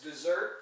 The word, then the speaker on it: dessert: But notice that there's another noun there's a noun that's dessert, pronounced that way as well, but it has two S's.